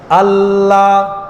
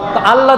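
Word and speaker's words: الله: কিছুক্ষণ সেখানে সময় নিচ্ছে আল্লাহ নাকি আলা আলা বলে উচ্চারণ হবে ধরলাম ছেড়ে দিলাম আলা তাড়াতাড়ি বললাম উচ্চারণ হয়েছে বলতে হবে আল্লাহ যখন বললাম একটু সেকেন্ড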